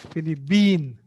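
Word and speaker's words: فلبين: be pronounced in arabic so they will use ba instead of ba letter p so that's why it is philly bean okay are you uh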